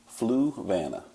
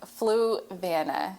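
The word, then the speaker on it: Fluvanna: Um, so I can't pronounce it, but tell me the county. Fluana. Fluana.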